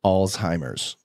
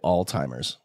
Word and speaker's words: Alzheimer's: he was developing Alzheimer's which that's how you pronounce it Alzheimer's I hate when people say Alzheimer's do people say that yeah it drives me